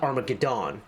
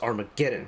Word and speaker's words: Armageddon: being gone it's gun because the word is Armageddon it's not armagedon it's Armageddon and to like kind of